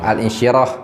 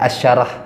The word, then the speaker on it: Al-Insyirah: Al-Insyirah. Ada yang menyebutnya Asyarah. Asyarah. Ya, itu sama saja.